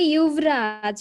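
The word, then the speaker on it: युवराज: স্যার ওটা হিন্দি উচ্চারণ হচ্ছে ইউভরাজ, ওই জন্য।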